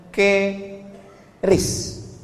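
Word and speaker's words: QRIS: Sekarang di pintu-pintu masjid, di pintu-pintu mall ditulis ada namanya ke ris qis. Cara bacanya gimana sebetulnya? Keris.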